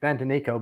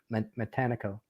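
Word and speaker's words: Matanikau: Some people call it Mantanico, but the locals in the water call it Matanico.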